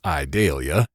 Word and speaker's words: Idalia: transpired during Hurricane Idalia, which any Southerner would pronounce Idalia, in case I slip up, which I will.